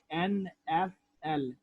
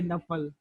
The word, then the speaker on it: NFL: But the difference is that unlike acronyms, however, initialisms are pronounced as a series of letters like NFL.